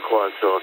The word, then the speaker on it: croissant: I pronounce it the proper way, croissant, and you probably know exactly what it is for breakfast in here.